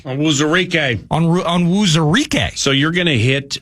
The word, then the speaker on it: Onwuzurike: Now, when you're calling games, how about this guy, one of my favorite names that you pronounce, Levi Onwuzurike. Onwuzurike.